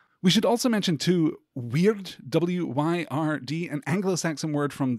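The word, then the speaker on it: wyrd: We should also mention, too, weird, W-Y-R-D, an Anglo-Saxon word from the Proto-Germanic, which means, you know, fate or personal destiny.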